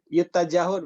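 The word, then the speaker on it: يُتَّجَهُ: Kalau saya memang logatannya diunggulkan. Diunggulkan ya. Iya. Yut tajahud bacanya kalau ini. Yut tajahu ya, yang diunggulkan ya.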